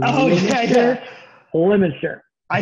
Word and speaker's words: Leominster: So you had Leominster coming in. But, by the way, Quad Cities, Leominster. I know it's pronounced or phonetically. Oh, yeah. Leominster.